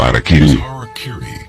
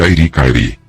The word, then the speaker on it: Harakiri: Na tradição samurai, uma das formas de suicídio ritual, ou seppuku era o Harakiri, frequentemente pronunciado erroneamente de Airi-Kairi.